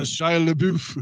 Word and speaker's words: Shia LaBeouf: I always mispronounce his name. Shia LaBeouf. Yeah, it sounds like the Packers coach.